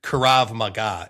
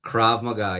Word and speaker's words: Krav Maga: You do kurav maga. Is that right? Did I pronounce that right? Krav Maga. Yeah.